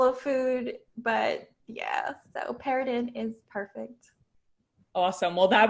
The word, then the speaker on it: Perrodin: So if you're from South Louisiana, we pronounce it Perrodin, but anyone else, I say Perrodin just because it goes over their head.